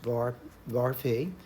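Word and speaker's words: varphi: This symbol here is pronounced var phi.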